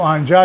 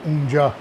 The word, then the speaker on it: آنجا: جب ہم لکھتے ہیں، ہم بر صغیر والے پاکستان میں اس کو اپنے تلفظ کے حوالے سے ہم اس کو آنجا کہتے ہیں، لیکن یہی ایرانی اگر کہے گا تو آنجا کو وہ اونجا، اونجا یہی آنجا ہے.